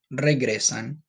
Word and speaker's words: regresan: In this sentence, it's regresan. Try to roll your R a little bit. Just try your best, okay?